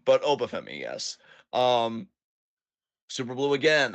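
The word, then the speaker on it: Oba Femi: There's only Um, one him in WWE, and his name rhymes with Boba Temi. yes. I'm so glad you didn't say it was Carmelo Hayes because I'm like, not anymore. It's not. But Obafemi, yes.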